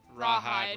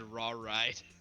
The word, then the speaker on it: Rawhide: The only reason I know that it's pronounced Rawhide is because of Blues Brothers. Love that movie. I almost said raw ride.